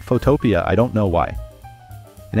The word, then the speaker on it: Photopea: I know it's spelled like photo np, but people call it Photoia.